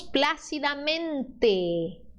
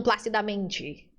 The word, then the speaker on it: plácidamente: No espanhol, é sempre o T de triste. É o suave. Então, nós não transformamos o T final, principalmente o T final, que o brasileiro gosta de dizer, elegantemente. Elegantemente. Tá vendo que a gente está fazendo t, t, t? No espanhol, isso se transforma em T, suave, elegantemente. Entonces, decimos plácidamente, não placidamente. Nossa, doeu meu ouvido.